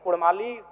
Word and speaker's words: कुड़माली: मांग करता हूं कि र के स्थान पर अड़क किया जाए क्योंकि कुड़माली साहित्य की बात करें तो अड़ का महत्त्वपूर्ण स्थान है जैसे काड़ा माड़ भेड़ा पीड़ा डाा गौड़ मोड़ ये उच्चारण केवल कुड़माली साहित्य में ही संभव है अभी अगर इसका